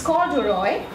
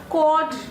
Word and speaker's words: corduroy: Okay, it's corduroy. Now, corduroy is another, term which we use in everyday life, but we don't get the pronunciation correct. Most of us, tend to pronounce this word as cord or corder, okay?